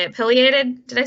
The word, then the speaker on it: pileated: I'm probably going to mispronounce this, even though I've heard you say it. Pileated?